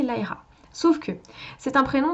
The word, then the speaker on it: Lyra: Ceux qui le prononcent Lyra ont raison dans le sens où c'est comme ça que le prénom est censé se prononcer. C'est un prénom anglo-saxon, donc le Y se prononce de cette façon-là, donc en toute logique on devrait prononcer Lyra.